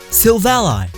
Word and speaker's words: Silvally: Silvally. It was named by Gladion himself. Silvally is his silver ally, his friend.